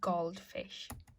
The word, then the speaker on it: Goldfisch: So be careful how you pronounce that one because it's not gold like English, it's gold. Einen Goldfisch.